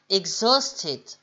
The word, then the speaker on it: exhausted: Il faut vraiment faire l'intonation sur la syllabe du milieu, l'avant-dernière en fait. Exhausted.